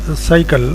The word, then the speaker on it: cycle: In the word cycle, first letter C gives the sound of S. Next letter Y, it gives the sound of I. Next letter C, again it gives the sound of ik, that is K. Then last letter E, it is silent.